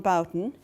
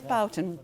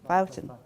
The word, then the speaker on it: Boughton: to speak and to my right is Bon if I it is Bouton amazing because there's so many ways of pronouncing names Bouton yeah and is a social historian and